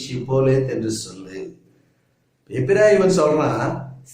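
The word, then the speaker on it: שיבולת: அதே போல எப்பிராயிமர் எபிரேயராக இருந்தாலும் கூட அவருடைய அந்த நாளிலே உச்சரிப்பு சற்று வழக்கத்தில் மாறுபடுகிறதாக இருந்தது. இப்போ கீழையாத்தியார் சொல்றாரு, நீ ஷிப்போலேத் என்று சொல்லு. எப்பிராயிமன் சொல்றான் சிப்போலேஸ், சி போடா என்று சொல்லி அவர்களை அங்கே கொலை செய்கிறார்கள்.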